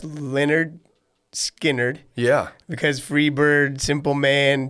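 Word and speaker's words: Lynyrd Skynyrd: why I'm going with Leonard skinnard pronounced Leonard skinnard yeah because Freebird Simple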